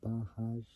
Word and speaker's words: Bajaj: can't pronounced this word bahaj I spelled b a j a j so it's like saying Baja but J at the end so the Duke 200